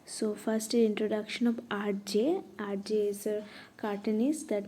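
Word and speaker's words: Hergé: whose pen name was RJ, and he was just known for by his pen name only, RJ, which is the French pronunciation of the reverse of his initial, and he was well known for creating the Adventure of Tintin.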